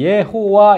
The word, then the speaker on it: 예호와: 세 개 요게 모음이에요 모음을 붙이니까 이제 발음이 예호와 이렇게 됐어요 예호와 그래서 이제 우리 한글로